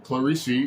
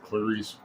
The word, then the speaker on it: Clarice: respect or novel uh he pronounces her name clarissie because uh online youtube there's a example of a i think a portuguese man pronouncing it that way so it's probably correct but i'm just going to stick with clarice um but it takes